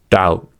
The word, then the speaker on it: doubt: Second, B is usually not pronounced before T. These are examples: debt, doubt, debtor, doubtful, subtle.